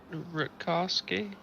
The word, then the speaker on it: Rutkowski: Basically, the T is silent, and the rest of it pretty much is how you would do.